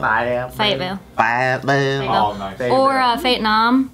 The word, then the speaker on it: Fayetteville: What's the correct way to pronounce Fayetteville? Fayetteville.